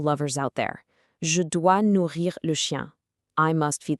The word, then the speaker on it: nourrir: Now, the absolutely crucial point here is the pronunciation. Nourrir means to feed. It has a double R, so you really want to give it a slight roll or a deep vibration right in the back of your throat.